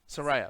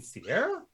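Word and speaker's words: Saria: Soraya. Soraya? You mean Sierra? Oh, is that okay? I've been saying it wrong the whole time.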